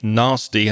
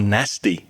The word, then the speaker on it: nasty: Interestingly, that has two pronunciations. You can say nasty, as I would in the south of England, or nasty in the north.